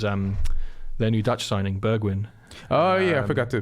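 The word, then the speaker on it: Bergwijn: yeah actually Berg when so you pronounce the J like a G like a why yeah what it was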